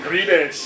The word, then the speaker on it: Tsangarides: And this was produced by Chris Tsangarides. I don't know, I never pronounce that guy's name. Tsangarides!